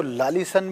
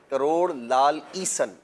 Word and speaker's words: کروڑ لال عیسن: کہا جاتا تھا پہلے، اس کو لالیسن بھی لوگ بولتے ہیں۔ جی وہی صحیح تلفظ یہ ہے، کروڑ لال عیسن اس کا نام ہے۔ تو وہ لال عیسن